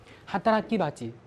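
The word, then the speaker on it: 働き蜂: 先注意，首先读音上有个浊音变。哈达拉基巴吉，它原本就是工蜂的意思。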